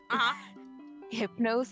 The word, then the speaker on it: Hypnos: want to I want to correct something uhuh hypnose as the Greek god of sleep so that's how you pronounce that word oh okay yeah they were